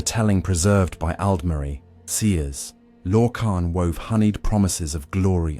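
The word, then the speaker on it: Lorkhan: That notion bore a name whispered in reverence or in dread, Lorcan, pronounced Lorcan, whose burden was to kindle a material plane and thus forever alter the fate of those who dared to see it realized.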